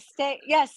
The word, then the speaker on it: Stay: Stay. It's my nickname, right? People call me Stay instead of Stacy. Yeah. So my brands are they're fun. Everything's like a play on stay.